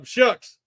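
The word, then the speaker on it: Shough: Tyler Shucks at Louisville I think he's pronounced his shuck since how he says his last name it don't look like it but that's how it don't look how it spelled but that's how I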